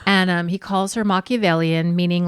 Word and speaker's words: Machiavellian: or dacity to call Christine Machiavellian which he mispronounced as machiavellen yes and um he calls her Machiavellian meaning like she's behind